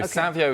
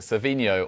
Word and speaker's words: Savinho: to pronounce his name are we calling him Savio Savino Sav well it turns out you can kind of do either so Savio is his chrisan name but svino or Ino is a suffix